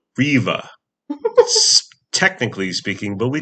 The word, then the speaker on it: Riva: So we pronounce it Riva. Yeah. But people who want to sound fancy or sophisticated pronounce it Riva on the river, which okay, but we're